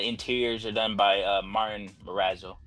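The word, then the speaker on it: Morazzo: Prince and the Interiors are done by Martin marazzo it's how you pronounce it it's an anthology series it's about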